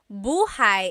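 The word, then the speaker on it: buhay: Shir said, I always make a mistake with bah and so bahigh is house. Buhai is your life.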